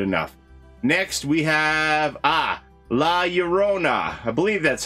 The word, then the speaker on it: La Llorona: next we have ah la llorona i believe that's how you say it the double l is a y sound in spanish right la llorona my uh grandfather would always